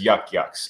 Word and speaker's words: Yuk Yuk's: say like if for Boston people you could spell it why a wk but like York York but the term is Yuk Yuk's so your friend is in fact Yuk Yuk's